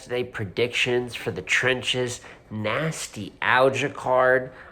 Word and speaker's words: Nastylgia: predictions for the trenches nasty algae card I believe it's supposed to sound like Nostalgia it's not spelled like it uh no but we